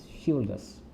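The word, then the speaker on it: chivalrous: इसकी प्रोनाउंसिएशन क्या होती है, शिवलरस।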